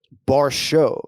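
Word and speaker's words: Borshchev: Yeah, it's so the surname is spelled Borchev, but it's pronounced Barshov.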